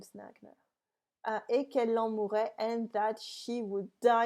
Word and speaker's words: mourrait: I really emphasize this double R to show you that it is a conditional.